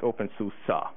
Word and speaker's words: openSUSE: And he said it's pronounced OpenSUSE, which is weird.